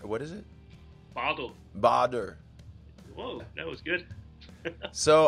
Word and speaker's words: Bader: If you're in Germany, it's pronounced Badar. What is it? Bader.